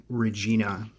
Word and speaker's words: Regina: and there is a city in Canada called Regina well actually it's pronounced Regina it's the capital it's a sketch